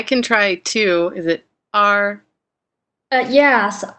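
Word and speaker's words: 二: Do you want to pronounce it? I can try two. Is it R? Yes, R.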